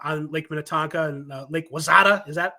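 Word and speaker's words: Wayzata: and on uh on Lake Minnetonka and Lake Wazada. Is that how you pronounce it? Wisetta.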